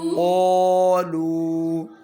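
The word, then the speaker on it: قالوا: क़ालू क़ालू क़ालू। क़ालू इसमें कौन सा हरफ साइलेंट है? नहीं, इसका जमा का अलिफ।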